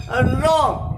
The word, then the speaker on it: wrong: उसके बाद में ध्यान दी, रॉन्ग, WRONG, इसे हम लोग बोलेंगे गाइस रॉन्ग। क्या बोलेंगे? रॉन्ग। वरॉन्ग नहीं बोलेंगे। W के बाद में R आ रहा है, इसका मीन इसे हम लोग साइलेंट करेंगे तो रॉन्ग हो जाएगा, ठीक है।